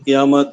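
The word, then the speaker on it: قیامت: উস তারাফ, ওইদিকে এইদিকে, কিয়ামত কিয়ামত, রহমত রহমত, নজর মানে দেখা, তারপর লোক মানে লোকজন। এটা তো বাংলার মতনই আসলে। না ফরমানি মানে বেয়াদব। কায়ামত হবে এটা উচ্চারণ।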